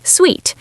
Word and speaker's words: Suite: Suit sounds like suit. Suite sounds like sweet.